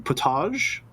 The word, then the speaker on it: potage: Yes, it's right in French, but it gets pronounced that way in English too.